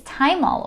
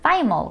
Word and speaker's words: thymol: The main ingredient in thyme that is so beneficial is thymol or thymol, depending on how you pronounce that.